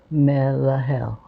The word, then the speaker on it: Melahel: Melahel, Melahel, Melahel, Melahel, Melahel.